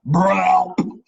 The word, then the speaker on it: BRELP: It's actually pronounced BRELP. Yeah, that's what I thought.